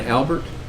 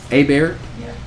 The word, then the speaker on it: Abert: you next is albert a bear a bear i don't pronounce the t right i at least got one of them right okay uh good morning my name is abert i am the kerr